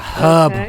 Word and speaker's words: herb: well I I personally I pronounce it like the H is silent so herb it's a herb with an H yeah